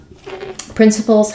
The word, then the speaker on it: principles: me to do that principles has first syllable stress um letter C says the sound uh so I'm going to mark that with stress print and the final letter s says the z sound it sounds like prpl